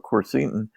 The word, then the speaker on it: quercetin: This, and I'll butcher the flavonoid name, but if you'll just tell us again, quercetin.